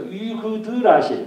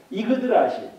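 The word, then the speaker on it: Yggdrasil: 써가지고 세계수라고도 합니다만은 자, 여기 보면 이게 이제 Y가 위로도 발음을 한다고 그랬죠. 그래서 이그드라실 혹은 이그드라실 이라고 한다면 이그드 이거로 가야 되는 이그드라실.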